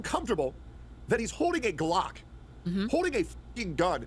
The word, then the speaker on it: Glock: That's Glock. Glock rhymes with cock.